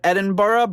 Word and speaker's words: Edinburgh: that I've already butchered it should be Edinburgh see I've always heard that I've heard Edinborough but like there's Edinburg and the problem with growing